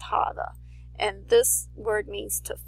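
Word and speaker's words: חוה: form of God's name but this one is pronounced hava which is the same as Eve's name Eve's name is pronounced hava and this word means to fall which is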